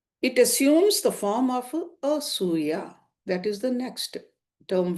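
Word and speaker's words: असूया: Asuya is spelled as A-S-U-Y-A, asuya. And the third one, the Matsarya, is still more destructive and perverse.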